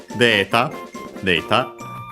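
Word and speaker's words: データ: Deeta, from English. We have already seen it in Professor Rock's speech, accented, like in English, luckily.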